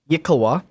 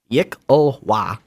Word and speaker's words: Yikawa: So a Yikawa is spelled YKL. I'll wait. Okay, YKLWA. Yikawa. So yeah, he just sells other stuff.